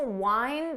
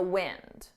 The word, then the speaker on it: wind: Listen to the difference. It's hard to wind the toy in the wind.